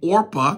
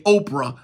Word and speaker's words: Orpah: So they married Moabite women, the one named Orpah. Mm-hmm. A lot of preachers read that. O-R-P-A-H, and they say Oprah.